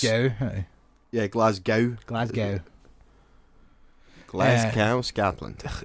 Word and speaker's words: Glasgow: The W is silent. Glasgow. I know. But where'd you get the cow from? Because it's... Or gow? I guess it's gow. Yeah, Glasgow.